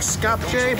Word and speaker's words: Skopje: It looks like Skopje, but it's pronounced Skopje or something very similar to that.